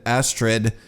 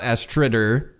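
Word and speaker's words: Astridr: Apparently, someone told me that the R at the end of the names you do not pronounce, so it would be Aslife and Astrid, and not Astrider.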